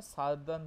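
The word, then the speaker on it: Southern: প্রোনাউন্সেনটা সারদান bloating.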